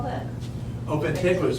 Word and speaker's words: Ventigra: Could you spell that? Oh, Vintegra is Ventigra. Vintegra. It comes from this BASF company, which they're really the leaders in all that kind of stuff. VENTI. Ventigra.